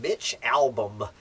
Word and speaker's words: Albom: recognize the name Mitch how do you pronounce as a-l-b-o-m Mitch album uh I think he's